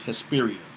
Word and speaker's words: Hesperia: Really, the real pronunciation is Hesperia.